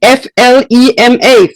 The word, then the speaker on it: flema: ridiculous to have an explanation of how to pronounce flema. It's f l e m a flema that's the only way in which we pronounce that.